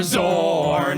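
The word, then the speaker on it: Xorn: And it's spelled with an X. Yeah. I bet all of you thought it started with a Z, Yep. didn't you? Nope. It's an X.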